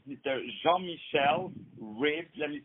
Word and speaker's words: Ribes: Jean-Michel Ribes. Let me spell it out for you.